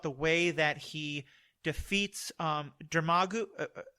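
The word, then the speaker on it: Dormammu: that he defeats Dermagu, how do you pronounce that? The big creature? Is it? Yeah. Yeah, that one. Yeah, Jermagu. I'm getting it wrong, and people are yelling at me for being a filthy casual.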